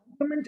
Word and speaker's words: complement: Complement and complement, only one single alphabet difference between the two. P-L-I-M-E-N-T, P-L-E-M-E-N-T. Complement, complement, both are pronounced the same way.